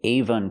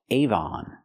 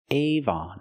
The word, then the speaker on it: Avon: cannot say Avan Cosmetics the word is pronounced Avon Avon we stress both syllables we have the long a Avon and we have the open a like hot and stop not aan aan is not a closed syllable it's an open syllable Avon Avon Cosmetics these